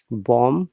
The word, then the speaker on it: bomb: have to pronounce b but if it is a singular word we don't have to pronounce b at all okay so once again lamb but lamps bomb but bombs and that